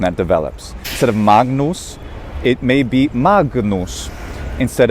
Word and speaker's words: Magnus: you're doing classical pronunciation it's okay to do a gn as written magnus you can even release